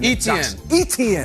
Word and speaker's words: Etienne: how you say it etn like e.t et phone home all right and then